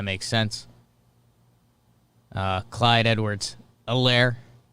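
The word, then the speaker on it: Helaire: sense uh clyde edwards a lair i kept pronouncing the h because there is an h an age of the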